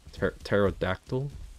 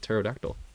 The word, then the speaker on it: Pterodactyl: Pterodactyl? Is that how you spell it? The P is silent, right? Pterodactyl.